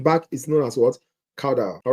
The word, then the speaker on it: caudal: Caudal. All right? My students always say, caudal. I have to hold my nose to pronounce it properly.